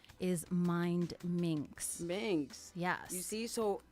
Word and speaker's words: Mindminx: went on air because a lot of people don't pronounce the d so they'll say or they'll say it's mindy mindy mix i'm like no mind it's two words together mind minks um so i could